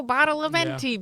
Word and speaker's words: Badalamenti: So I'm going to say when he's like, Angelo Badalamenti, because I cannot physically look at like Angelo Badalamenti's name Without hearing that?